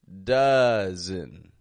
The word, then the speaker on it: dozen: bring to your attention right here is dozen dozen d o z e n dozen dozen is